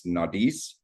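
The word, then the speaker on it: Naudiz: Um the pronunciation for it is Nadis and then for the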